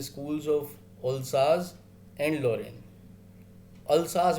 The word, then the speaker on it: Alsace: अल्साज, बेटा इसकी प्रोनाउंसिएशन अल्साज है, याद रखना, ठीक है. कुछ लोग ओल्सेस पढ़ी पढ़ते हैं, कुछ अल्साचे भी पढ़ते हैं. ओल्साज है इसकी, अल्साज एंड लोरेन.